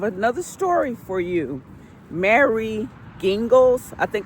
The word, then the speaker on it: Gingles: Mary Gingles, I think the name is spelled Gingles, like the liquor gin, with Gles, Gingles, or something like that at the end.